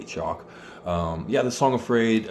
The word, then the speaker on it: Chalk: one is the song Afraid by chalk um that's spelled c h a l k chock um yeah the song afraid um starts with